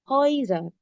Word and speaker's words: Häuser: Seperti yang aku udah bilang tadi, kalau A dan U ketemu, tapi A-nya ada umlaut, dibacanya jadi oi. Häuser.